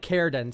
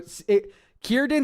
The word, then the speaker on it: Círdan: I think it's like Círdan. So Círdan, Círdan.